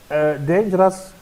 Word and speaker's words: dangerous: number eight interesting and the word dangerous the stress on the first syllable that is day and